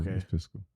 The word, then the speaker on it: fiscal: not say that physical you say physical pisal yeah always pronounce that word wrong um cuz I remember I used to say like physical like like a physical with your doctor pH physical year um so yeah any